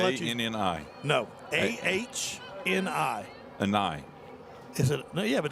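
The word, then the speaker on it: Ahni: An I. Is it? No, yeah, but that could an be I. Annie if the H is silent.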